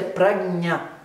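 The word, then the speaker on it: prajñā: Então, a pronúncia é pragnha. Esse sonzinho de JN com tio em cima, A, é nha. É um som meio que a gente tem no espanhol. Manhana, esse nha. Pragnha.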